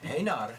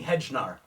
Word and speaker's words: Hejnar: I was wondering it's haar haar it's so it's actually it's a Czech last name and in America everybody calls me hnar whoa so the first